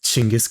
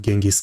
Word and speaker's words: Chinggis: It's not Genghis Khan, it's Chinggis or Chinggis Khan, I think.